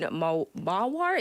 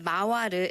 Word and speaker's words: Mawar: We need some updates regarding Typhoon Mawar. Is that how you say it? Yes, so Mawaru is how I've seen it in the Korean outlets, Mawar.